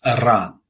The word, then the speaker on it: Iran: the Tyler Adams interview you got to start pronouncing around the right way it's Iran okay get it right anyway Iran Iran Iran